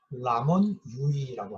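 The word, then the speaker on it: Ramon Llull: 레이몬드 룰. 이제 영어 발음이고요. 이 사람은 이제 원래 스페인 사람이었기 때문에 이 사람의 본명은 라몬 유이라고 합니다. 자, 이분은 이게 프란시스의 제자입니다.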